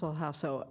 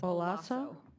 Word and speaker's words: Alhasso: It's a silent H, but there's no way you would know that, so it's Olasso?